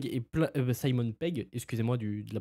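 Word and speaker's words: Simon Pegg: On sait aussi que Pom Clément serait de retour par rapport au précédent film, qu'il y aurait du Simon Peng et plein Simon Peg, excusez-moi, du de la prononciation du nom et euh plein d'autres acteurs mais je me rappelle plus des noms.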